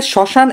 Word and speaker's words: শ্মশান: তার মানে ম যদি শব্দের আদিতে ব্যবহৃত হয়। আদি মানে শুরুতে ব্যবহৃত হয় তখন ম এর উচ্চারণ হয় না।